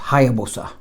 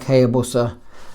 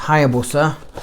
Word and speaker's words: Hayabusa: Well, actually it's pronounced Hayabusa. It looks like Hayabusa, but it's actually pronounced Hayabusa, which, if you didn't know, is Japanese for a peregrine falcon.